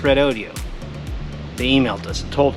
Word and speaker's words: Redodo: red Odio 12vt lithium battery and yes it's pronounced red Odio they emailed us and told us this video